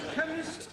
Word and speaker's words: chemist: blame me k e chemist does not begin with a k it sounds like it begins with k CH H but that